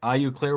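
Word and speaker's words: Eau Claire: IU Claire, Wisconsin.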